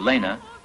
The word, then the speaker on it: Lena: 50 times as wide the Lena in Russian is kind enough to rhyme with our French River in Latin so just